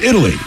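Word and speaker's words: Italeigh: a little girl named Italy yes it is pronounced like the country of Italy but of course it's spelled different i-t-a-l-e-i-g-h or girl but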